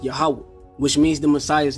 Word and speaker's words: Yahweh: With this being said, we just proved the name Yohewah should be pronounced Yahweh, which means the Messiah's name shall also carry the name Yahweh while adding an extra syllable to the end.